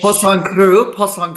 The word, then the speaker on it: Poisson cru: gosh, how do you pronounce, how do you pronounce that delicious fish? Poisson cru.